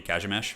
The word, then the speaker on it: Kazimierz: I think it's actually, if you were to say it correctly in Polish, it'd be Kazimierz, but I could be wrong.